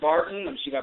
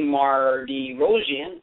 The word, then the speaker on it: Mardirossian: definitely tonight we have dr. Barton I'm sagat pronounces correctly Mardirosian she grew up in